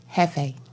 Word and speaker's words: Jefe: my grandma's how do you say it though Jefe there you go see I told you you